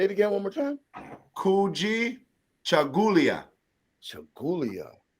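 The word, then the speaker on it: Kujichagulia: marcus massage oh yeah so habani ghani habarigani kujichagawa yeah oh you said it like you like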